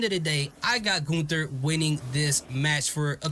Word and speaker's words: Gunther: pronounce it Gunther Gunther I don't know he said it's Gunther so I'm G say go